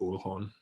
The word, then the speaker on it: Uhlhorn: When I went to Germany, there's a little tiny German town called Uhlhorn, and there's like all these ancestors of mine living there, and they all pronounce it Uhlhorn.